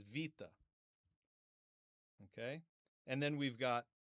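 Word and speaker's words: βήτα: Now, you can see in this old one, this was Arasmian when I did it, but we're gonna pronounce it as vita.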